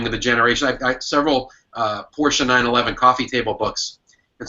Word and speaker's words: Porsche: And he taught me all about the history of Porsche. And he made me stop saying Porsche and pronounce it Porsche because he was so insane about it.